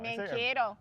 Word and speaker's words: Mankato: Saying it wrong. Mankato. He taught us.